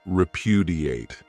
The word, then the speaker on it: repudiate: Another great verb is repudiate. This verb has 4 syllables, and the stress is on that second syllable, repudiate.